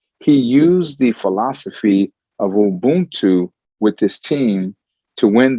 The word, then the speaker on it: Ubuntu: It's pronounced Ubuntu. Ubuntu.